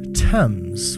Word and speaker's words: Thames: It's obviously, it's a bridge in London, if that wasn't very clear, spanning the River Thames, which is the correct pronunciation of that river's name, I have found.